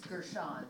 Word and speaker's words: Gershon: Gina, I always pronounce your name Gershon. It's Gershon. Gershon. Like French.